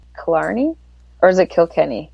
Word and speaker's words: Kilkenny: I can't pronounce names. Cli or is it Kilkenny? Kilkenny.